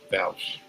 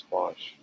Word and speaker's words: Bosch: Is it Bausch or Bosch? I've been pronouncing it Bausch. I think I've been mispronouncing his name. It's Bosch, or his screen name, his Twitch name is Bosch.